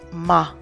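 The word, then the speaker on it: מה: Hey is silent at the end of the word, so it's Ma.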